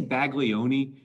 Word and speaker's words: Baglioni: All right, what causes Baglioni? I say Baglioni. The Italian pronunciation is not Baglioni, but I don't speak Italian, so we're going to stay with Baglioni.